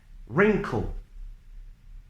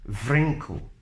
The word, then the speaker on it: wrinkle: rap wreck wrestle Ragle without all without the W sound wrinkle raced Ryan Greek